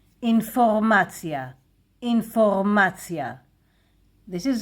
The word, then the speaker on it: אינפורמציה: Information in Hebrew, it's a loan word. Informacja, Informacja. This is how we pronounce it. Informacja.